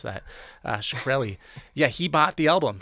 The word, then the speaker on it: Shkreli: How do you pronounce that? Shkreli.